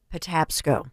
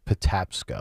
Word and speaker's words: Patapsco: of the river you said how do you pronounce that it is the uh Patapsco Patapsco Patapsco okay the Patapsco River I never heard